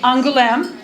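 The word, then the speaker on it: Angoulême: our sister city which is by the way pronounced angulam it looks more unusual than it is this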